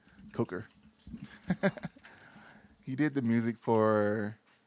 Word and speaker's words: Coker: So Gareth Cocker did Coker? Cocker? Coker? I'm not saying his name wrong. Coker.